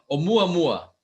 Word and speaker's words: 'Oumuamua: Pronounce 'Oumuamua. No, 'Oumuamua. 'Oumuamua.